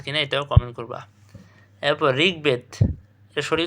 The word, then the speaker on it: ঋগ্বেদ: এরপর ঋগ্বেদ, এর শরীর উচ্চারণ কী হবে? ঋগ্বেদ।